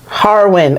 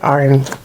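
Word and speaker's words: Harwin: Harin. Okay, I pronounced it wrong. Harin. Yes. Okay, I said Arin, but yeah, at least I remembered.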